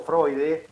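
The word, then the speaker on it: Freude: y con fraudes establece o freud la pronunciación correcta se establece una relación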